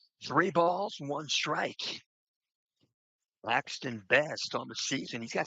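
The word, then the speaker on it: Beste: the first name Axton it's be t with an e on the end pronounces it best he's a junior class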